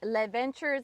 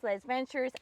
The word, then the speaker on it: Les Ventures: builder, and is the founder and creator of Les Ventores. Did I pronounce that right? I say Le Ventures. Le Ventures.